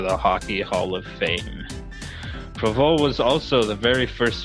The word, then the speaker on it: Provost: On this day in Habs history, on this day, September 17th, the year of our Lord, 1933, Claude Provost, not Provost, as my Ontarian tongue would pronounce it, was born in Montreal.